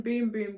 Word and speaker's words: Bum Bum: But yeah, the Brazilian Boom Boom Cream. That's how it says you pronounce it, but literally this says Brazilian Bum Bum Cream, so that's what I'll be calling it.